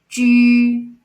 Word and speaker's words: ju: Ju, ju, because this vowel pronounces yu by itself. So when we put ji and yu together, it's ju, chu, chu, shu, shu.